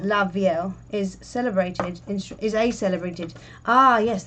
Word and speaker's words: la vielle: Oh yeah, la vielle, pronounced la vielle, unlike the general rule for 2 L's together making a Y, like in la fille, which is the girl, isn't it?